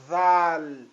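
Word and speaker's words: ذال: letra Dal Dal Dal Aqui nós temos za zal zal zal estou a repetir várias vezes justamente porque esta letra não tem sua equivalência na língua portuguesa então mais uma vez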